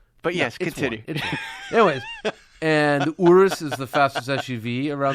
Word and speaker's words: Urus: that's it's two but yes continue anyways and Urus is the fastest SUV around the N ring